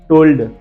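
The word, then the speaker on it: told: सोल्ड, टोल्ड एंड फोल्ड एंड मोल्ड। देखिए जरा चार spelling, सोल्ड, टोल्ड, फोल्ड एंड मोल्ड। यहाँ सब में हमने इसको एल को पढ़ा है, लेकिन ये बहुत कम स्पेलिंग है।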